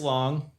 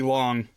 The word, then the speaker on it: Lang: And they are Lady on the Moon by Fritz Long. Is it Lang or Long, Brian? I've heard both. I mean, German pronunciation, I guess, would be Long. Uh, but lots of people say Fritz Lang.